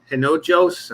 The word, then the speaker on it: Hinojos: here's my friend Eric Hinojos. I always mess it up, man. I'm Hey, sorry. it's Inopos. H is silent. Hinojos.